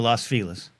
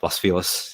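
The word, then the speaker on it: Los Feliz: Yeah, Las Felis. Yeah, exactly. Exactly. I'm sure it's exactly what you all say. Lasis. And uh that's how that's how it's said. We're down with her. I I guys, this is this is the this is the coastal divide here. We would never say Las Felis in Miami.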